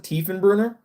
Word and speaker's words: Tiefenbrunner: Oh, that's how you pronounce it, Tiefenbrunner.